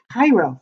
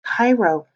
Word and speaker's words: Cairo: that is that's writing and that word says cairo it's pronounced cairo egypt i know we have a word that